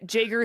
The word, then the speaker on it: Jager: And Jager, thank you for saying that your name is pronounced Jager and not Jaeger, because I definitely would have said Jaeger.